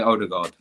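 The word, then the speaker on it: Ødegaard: Yeah, just say Odegaard. He's Norwegian. He's a guard.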